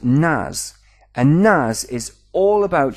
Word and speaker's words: NAS: an acronym for network attached storage and it's pronounced nas and nas is all about sharing storage at